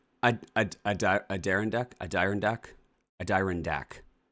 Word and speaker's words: Adirondack: No, I don't Adirondack. It's ad iron iron deck.